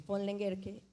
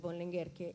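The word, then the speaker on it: von Lengerke: equívocamente está el nombre, la pronunciación del nombre y la parte del fon. El fon Lenguerque, que no es von Lenguerque y que no era parte del nombre, sino de la parte de la dinastía, de la familia, de la parte nobiliaria, ¿no?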